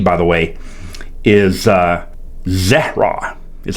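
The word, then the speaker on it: זרע: You know, that Hebrew word there for seed, by the way, is uh zera, is how it's pronounced.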